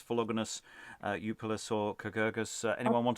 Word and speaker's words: Philogonus: I'm going to agree with Lois on the hard G. Generally, I would think they're all hard Gs, because they would be from the Greek gramma.